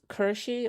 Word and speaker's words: Kirsche: It's pronounced Kershi like Porsche. Oh, Kershi then.